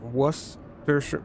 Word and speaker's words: Worcestershire: The sauce is pronounced Worcestershire.